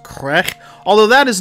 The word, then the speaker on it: Qegh: called star trek killer crack i think my klingon pronunciation is accurate there if it is that's pronounced crack although that is not